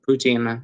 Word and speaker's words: poutine: up in La Banquise, enjoying some poutine, or poutine, I guess more people pronounce it that way here, and the city's famous smoked meat.